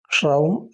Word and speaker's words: ക്ഷൗം: ഓം എന്നത് എല്ലാവർക്കും അറിയുന്നതാണ് ക്ഷൗം എന്ന് പറയുമ്പോൾ അതിൻറെ ആദ്യത്തേത് ഷാനി ഇവിടെ മലയാളത്തിൽ എഴുതി കാണിക്കുന്നുണ്ട് അതുപോലെതന്നെ ക്ഷ ര ഓ മ അവസാനം വരുമ്പോത്തേക്കും മ എന്നുള്ള ഒരു ശബ്ദവും കൂടി വരണം അപ്പോ അത് പ്രത്യേകം ശ്രദ്ധിക്കുക ക്ഷഅ അതുപോലെതന്നെ രണ്ടാമത്തെ ഉച്ചാരണം രാണ് വരുന്നത്. മൂന്നാമത് വരുന്നത് ഔ അവസാനം മ എന്ന് ചേർന്നാണ് ക്ഷൗ എന്നാണ് വരുന്നത്. അപ്പൊ അത് ഞാൻ ഇംഗ്ലീഷിൽ എഴുതി കാണിക്കുന്നുണ്ട്.